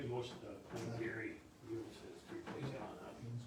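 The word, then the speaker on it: Youness: Y-O-U-N-E-S-S, Eunice. Pronounced.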